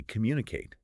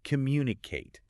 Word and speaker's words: communicate: And similarly, communicate. People often stress the second syllable, but it should be communicate, right?